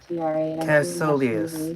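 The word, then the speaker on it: Kaecilius: Search results for Cassilius pronunciation pro. Cassilius telling Doctor Strange Marvel #DR Cassilius.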